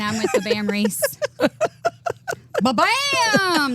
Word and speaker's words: Ba-bam: Ba-bam! That's kind of how you say it.